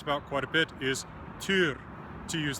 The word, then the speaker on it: Týr: quite a bit is T to use the Old Norse reconstructive pronunciation of his name for more about that